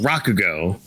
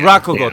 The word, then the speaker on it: Rakugo: How is it go? Oh, Rauugo, I think. Yeah, Rakugo. Thank you, Rockogo.